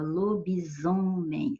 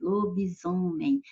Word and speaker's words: lobisomem: Veja bem que em lobo e em homem, você não percebe nem som de I, nem som de Z. Não tem Z a letra na palavra, mas tem o som de Z, ó, lobisomem, lobisomem. Então, houve alteração fonética.